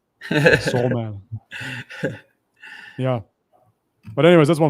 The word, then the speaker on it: Salman: you write his name Salman s a l m a n like s like s man yes yeah to pronounce it American I'm losing my voice soul man yeah but anyways that's